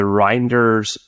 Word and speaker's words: Reinders: Actually, help me with the pronunciation here. Reinders, Reinders, yes.